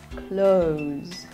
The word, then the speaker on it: clothes: this word castle castle e s here is pronounced as Z and not is as in pieces clothes clothes next word